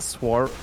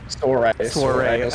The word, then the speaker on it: Soirée: Is it Swar? How do you say that? Soirée.